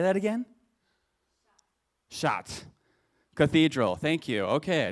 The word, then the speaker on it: Chartres: Chartres. Cathedral. Thank you. Okay, I didn't get a pronunciation in here.